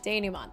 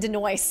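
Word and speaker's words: dénouement: Denouement. That's how you say it. I was like, I knew it wasn't Denoise.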